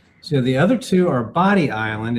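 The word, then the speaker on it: Bodie: So, the other two are Body Island. It's spelled B O D IIE E but it's pronounced Body and Ochre Coke Island.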